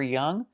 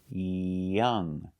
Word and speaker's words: young: And pronunciation for young? Young. Make sure the first sound is open, yeah, not j, but open, yeah. Young. And the ng, do not pronounce the g sound.